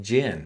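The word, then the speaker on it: djinn: you read the book it's spelled like Genie d-j-i-n-n if you're listening to the audiobook all you hear is gin occasionally you hear gin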